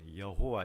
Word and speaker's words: 여호와: 두 가지가 나옵니다 하나는 야외 야외 여호와 이건 발음의 차입니다 똑같은 말입니다 야외 혹은 여호와 그리고